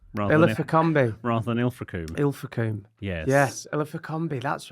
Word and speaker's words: Ilfracombe: ago on The Other Place, you talked about Ilfracombe rather than Ilfracombe. Ilfracombe. Yes. Yes, Ilfracombe, that's right. And I'm mispronounced one of those big lakes up in Scotland.